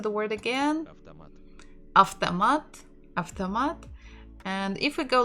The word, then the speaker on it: автомат: But if you say автомат, it will be good. If you say автомат, it's also good. People will obviously and definitely understand you. None of them is a mistake.